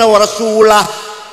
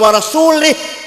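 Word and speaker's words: وَرَسُولُهُ: Yang benar, innallaha bari'um minal musyrikin wa rasulah. Allah tidak melindungi orang musyrik dan Rasulullah pun tidak melindungi orang musyrik. Bacanya harus warasulah. Kalau warasulih, Allah tidak melindungi orang musyrik dan tidak melindungi Rasulullah.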